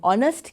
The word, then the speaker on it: honest: දැන් honest කියන එකේ h එකක් තිබ්බට h pronounce කරන්නේ නැති හින්දා an honest man සද්දේ.